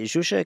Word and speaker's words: Zsuzsa: cxm here in Copenhagen and I'm joined by zusa ketma did I pronounce that right yes yes it is pronounced